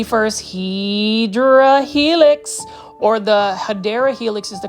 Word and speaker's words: Hedera helix: Plant foliage, you can see this is the first Hedera helix, or the Hedera helix is the correct way to say it.